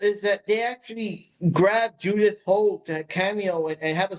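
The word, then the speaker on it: Judith Hoag: I personally feel that, how do you pronounce her name again? Judith Hogue. Judith Hogue.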